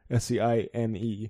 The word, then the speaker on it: seine: Basically, in the next chapter, a similar thing happens with fish, and they Seine, or Seine, it's spelled like the French river, S-E-I-N-E. Yeah, Seine.